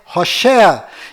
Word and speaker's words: Hoshea: Mas a pronúncia correta de Oséias é Hoshea.